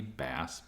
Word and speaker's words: BAAS: the American Astronomical Society bass B WSB AAS all good pronunciations so the B Double